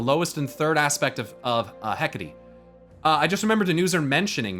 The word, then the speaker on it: Hecate: How do you say this name? Oh, I said it right. Hecate.